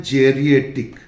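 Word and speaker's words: geriatric: और ये जो एक शब्द है, बेसिकली इसका प्रोनाउंसिएशन है जेरिएट्रिक। प्रोनाउंसिएशन क्या है? जेरिएट्रिक, ठीक।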